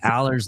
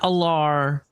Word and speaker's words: Allar: all these people mispronouncing Aller's name. He does pronounce it Drew Aller. It's not Allar.